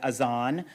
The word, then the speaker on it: azan: The word he uses for the call to prayer is the Farsi word azan, which is the Farsi pronunciation of the Arabic word adhan, which you might have heard.